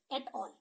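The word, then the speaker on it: et al.: ET dot a l at all okay it is pronounced as at all understood so I hope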